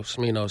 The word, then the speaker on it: Smino: Smino spelled like Nino, but with a sm.